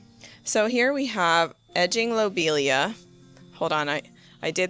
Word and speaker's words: lobelia: So, here we have edging lobelia. Hold on. I I did the I looked up the pronunciation for this.